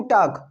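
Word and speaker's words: talk: है यहां पर, नहीं एल साइलेंट रहता है, टाल्क नहीं बोला जाता है, टाक, क्या बोलेंगे टाक, तो इतना क्लियर है।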